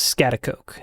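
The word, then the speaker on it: Schaghticoke: Well, I'm up on Scatakuk Mountain. I believe that's how it's pronounced. Not 100% sure. Scatakook. Scatak. The correct pronunciation is scatakoke.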